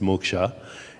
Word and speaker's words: moksha: it's also called moocs in english you would pronounce it moksha mo k sha and